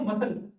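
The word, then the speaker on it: muscle: आपको समझ में आएंगे साइलेंट सी देखो यहां क्या है ये आ गया सी सी सी सी स ठीक है तो क्या बोलते हैं उसको मसल क्या बोलते हैं इसको मसल ये क्या होता है तीन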